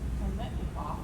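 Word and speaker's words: Biletnikoff: And let me not butcher this name, Fred Kermetnikoff.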